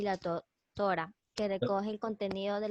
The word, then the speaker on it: Torá: La pronunciación es la Torá o la ley de Moisés, ¿sí?